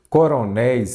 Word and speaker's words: coronéis: Coronéis, aqui, coronéis, aqui eu já tenho uma palavra oxítona, a sílaba forte é a última.